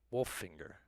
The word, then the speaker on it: Wolfinger: follow cam footage and daniel in the chat wolf finger wolfinger i think that's better is how our next runner's name is pronounced 201 john wolfinger not wolfing not wolfinger wolf finger right now we are